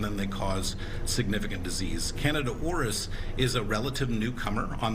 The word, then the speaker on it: Candida auris: Um the the fungus that you're talking about is Canada orus.